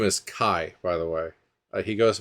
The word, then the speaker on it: Kye: to tell that guy that his name is Kai by the way he goes by Kai uh